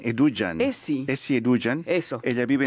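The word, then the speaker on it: Edugyan: De padres ganeses, ella tiene 40 años, Eduguian, sí. Pero le pronuncian Eduguian.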